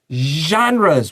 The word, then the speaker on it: genres: Combined，这个也有 n 在 ed 前面，so just like planned，这个也有 d 写下来。And then we have genres, which is like sh 的发音，然后你喉咙要震动。This is a great paragraph to listen carefully and practice your pronunciation.